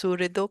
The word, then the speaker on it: सुहृदो: Because somebody here, she's learning Sanskrit, and she told me when it is like this, the A shouldn't be pronounced. So should be pronounced surido pare.